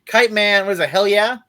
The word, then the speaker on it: Kite Man: for the first time kit man yeah I love kite man you gotta say it right kite man what is it hell